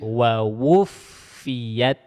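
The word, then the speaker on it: وَوُفِّيَتْ: Cara bacanya wa wuffiyat.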